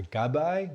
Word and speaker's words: gabbai: I had my time as what you call a gabbai, which it rhymes with a rabbi, right?